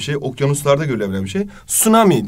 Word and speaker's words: tsunami: okyanuslarda görülebilen bir şey Tsunami diye okunuyor İngilizce de t'yi biraz söylemeden geçiyorsun Bir de flood dediğimiz